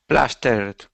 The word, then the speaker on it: plastered: Plastered. Good. Yes. So, see how we do not say plastered. We go straight to the D sound.